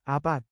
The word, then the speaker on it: apat: do four to seven a p a t is number four in Tagalog change a ah then pronounce it as AB l i m a